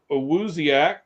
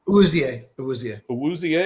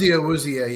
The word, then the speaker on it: Awuzie: Questionable for tonight is Awuziak Awuzika? Awuzie. Is that how it says? Awuzie, yeah.